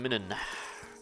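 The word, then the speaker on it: Muninn: Hugin and Minin. That's how you pronounce their names.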